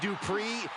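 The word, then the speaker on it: Dupri: Uh, Michael, it's pronounced Dri.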